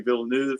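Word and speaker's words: Villeneuve: You know, I'm certainly I'm Vilnuv and that's my correct pronunciation, not the American pronunciation.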